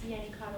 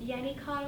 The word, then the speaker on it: Yennicott: It's Yenny Cod Oysters. If you want to know how to spell it, it's What is it? Yenny Cod Oysters.